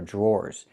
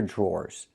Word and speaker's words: drawer: The dr makes a J sound like in juice and jump. Plus the R. J. Then we have the or sound like more in door.